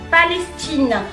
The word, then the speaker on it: Palestine: la fin du mot Pr première règle en prononce jamais de E à la fin du mot jamais Palestine le E ça sert pour faire ressortir le